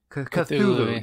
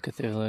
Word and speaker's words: Cthulhu: Cthulhu. Yes, I'm sorry. Call of Cthulhu is at 30,000.